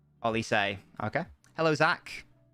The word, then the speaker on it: Olise: It's pronounced Olise.